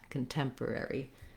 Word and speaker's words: contemporary: the to the end contemporary letter e says the e red tent vowel oh sorry i re mis-wrote that so it should be like that contemporary so that's just like the word temperature or um lowered ten it has that same f vowel then the letters o